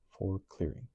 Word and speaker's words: forklaring: Danish, forklaring, explanation, pronounced foreclearing.